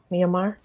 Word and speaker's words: Myanmar: energy and love for the greatest good to Myanmar? Am I saying it right? Myanmar.